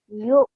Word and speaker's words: يؤ: يؤمنون Okay, I don't know, maybe it's just the mic, but I'm hearing a slight h sound. This is not, this is a hamza sound. So, you. يؤ Yes, so slight jerk sound, okay?